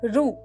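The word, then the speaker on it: ଋ: It graphically represents Ri of the Devanagari alphabet, but it is pronounced as Ru.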